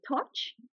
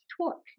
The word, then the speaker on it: torque: Torch? Torque.